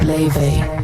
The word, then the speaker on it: Laufey: Laufey Lien Bing Jonsdottir, known simply as Laufey, pronounced Laufey, took the stage, and suddenly it was 1955 and 2025 all at once.